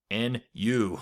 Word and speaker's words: nu: Might look like an italic V, but it's actually the Greek letter nu. All right, that's spelled N-U. It's nu.